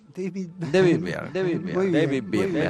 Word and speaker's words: David Byrne: David Byrne, así se pronuncia.